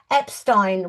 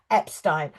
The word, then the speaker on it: Epstein: pronunciation of his name, Epstein was how John Lennon said it and a lot of people in Liverpool but it was Epstein and when he started his various boarding schools he would make a point of telling people that that was the pronunciation and in fact when